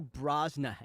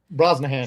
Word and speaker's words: Brosnahan: how you say his name and then Rachel brahan Brosnahan yeah she's great she's incredible she's perfect for